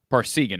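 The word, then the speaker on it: Parseghian: Parsegan, okay.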